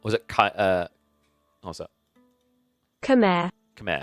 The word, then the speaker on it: Khmer: Khmer. Khmer. I always say Kema. Khmer.